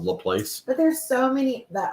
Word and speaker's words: LaPlace: is the force uh LaPlace which is about the place but there's so many